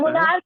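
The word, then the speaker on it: monarch: नहीं पढ़ा जाता है मोनार्क कहते हैं इसे पढ़ते हैं मोनार्क मोनार्क पढ़ते यानी यहां पर सीच का उच्चारण जो हो रहा है वो क हो रहा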